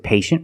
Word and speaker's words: patient: With patient, we see t i e making the shh sound. patient. The first syllable is a long a like day and pay.